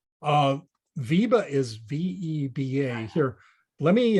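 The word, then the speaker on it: VEBA: my list to look at remind me how it's spelled uh Viba is v-e-b-a here let me uh I'll I'll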